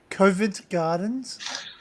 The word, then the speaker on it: Covent Garden: Swiss Cottage, Covent Gardens, Elephant and Castle.